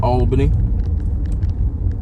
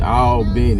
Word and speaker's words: Albany: know what that is those that not from here will pronounce it wrong they will say Albany but those of us who from around here we going to say all Ben going to in the English